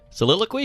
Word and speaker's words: soliloquy: Soliloquy?